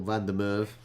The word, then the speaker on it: Van der Merwe: Van der Merwe. Yeah, it seems very Dutch, doesn't it? Van der Merwe. Or Van der Merwe, however you want to pronounce it.